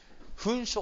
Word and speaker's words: 焚書: ねこの子ねぇもう読み方決まっていて焚書と言います焚書症工事です